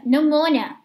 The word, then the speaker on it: pneumonia: Mas, por exemplo, se você estiver escutando uma aula, talvez você não associe a pronúncia a essa palavra, porque se pronuncia pneumonia, certo?